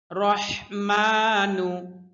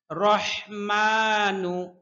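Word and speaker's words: الرَّحْمَٰنُ: আলিফ টেনে পড়তে হবে রহমানু রহমানু হা এর উচ্চারণ স্পষ্ট করতে হবে কণ্ঠনালীর মধ্যখান থেকে রহমানু হবে না বেশিরভাগ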